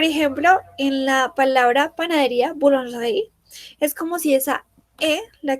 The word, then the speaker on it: boulangerie: Entonces, cada vez que tengamos una E que no esté acentuada, esa E no se pronuncia en la mayoría de los casos.